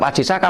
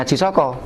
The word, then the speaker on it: Aji Saka: sehingga tadi saya katakan kita membacanya tetap Ajisaka bukan Haji Soko tetap Dewata cengkar bukan